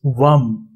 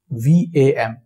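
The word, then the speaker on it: वं: Second, it is Vam. V-A-M.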